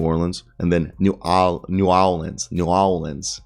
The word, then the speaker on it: New Orleans: new orleans new orleans like how peyton manning says it is how old people say it but new orleans is how people say it there so i'm happy i've been saying it correctly but supposedly other people in the country say new orleans that just sounds wrong new orleans pelicans remain